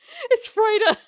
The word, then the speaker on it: Freude: I honestly did not know what I expected in German for joy, but it's Freude.